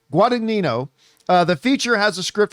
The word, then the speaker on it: Guadagnino: with his queer director Luca Guad I always mispronounce this. Guadagnino. Guadagnino. Guadagnino.